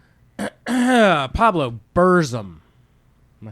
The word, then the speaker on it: Burzum: Pablo Burzum. Am I saying that right? Yes. Spell that.